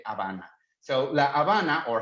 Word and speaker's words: Habana: spanish at age at the beginning we don't pronounce it so that's the reason why we said habana so la havana or havana in english so well it's the capital of